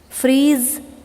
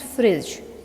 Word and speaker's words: freeze: Freeze, froze, frozen. Dear student, here I would like to draw your attention towards the word freeze. This is not fridge, this is freeze.